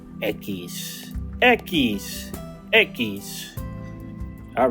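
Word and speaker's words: equis: And that, ladies and gentlemen, is pronounced echis.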